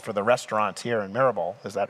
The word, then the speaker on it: Maribor: just was told for the restaurants here in Marabal, is that how I pronounce it? Marbor. Maribore.